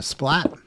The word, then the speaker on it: splat: are special computer characters those are a bang and a splat um that's how they're pronounced and uh so that's